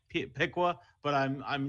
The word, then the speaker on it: Piqua: played on Friday night it's pronounced Piqua sorry sorry my my date and friends will murder me if I let you get away with Pequot I want to call